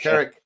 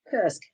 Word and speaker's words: Kursk: The Kirk um is that how you pronounce it? Kursk. Kursk. That's it.